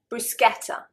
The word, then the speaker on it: bruschetta: Bruschetta. Bruschetta. The British, I think probably 9.9 times out of 10, will pronounce it bruschetta. Bruschetta. And of course, it is a foreign word. It's an Italian word.